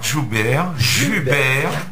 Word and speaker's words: Jubert: Et aujourd'hui, nous avons l'honneur et l'avantage d'avoir dans nos studios Joubert. Ah, excusez-moi, c'est qu'en Corse, le U, on le prononce bien souvent comme en roumain ou en latin.